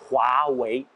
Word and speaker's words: Huawei: voyez il le roi w e ri se prononce comme heures wii le wii familier donc ce n'est pas le wawel waouh c'est huawei en tant qu'additif croit signifie de brion prospère